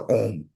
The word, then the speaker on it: Om: vajay a lot of time you see the OM actually om is one of the most profound Mantra oh have three syllables ah o and three three cable together